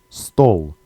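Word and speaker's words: стол: first word is stole stole sounds a bit similar to stole in English as an I stole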